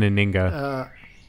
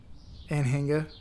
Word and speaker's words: Anhinga: Yeah, okay, if you want to hit the hard G. Yeah, like an Aninga. Anhinga.